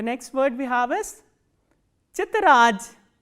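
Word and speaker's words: тетрадь: The next word we have is chitraj, chitraj, t, ye, t, r, a, d and soft sign, chitraj.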